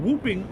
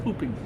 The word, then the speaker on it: whooping: An outbreak of whooping, or hooping. It's spelled whooping, but I think it's hooping. Whooping cough, also known as pertussis, is spreading all over Long Island.